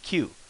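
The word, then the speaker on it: きゅ: So instead of ki u, it becomes q, as in cute.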